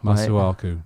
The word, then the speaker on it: Masuaku: It's actually pronounced Masuaku.